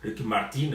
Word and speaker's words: Ricky Martin: Mais non, moi je l'appelle Ricky Martin, moi je prononce comme on le prononce, Ricky Martin en anglais.